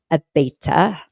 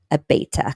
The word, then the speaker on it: Abeyta: Abaeta, a b e y t a, Abaeta Christopher.